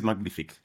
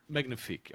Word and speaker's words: Magnific: Nobody will know how to how to pronounce it but it is magnific. Magnafic.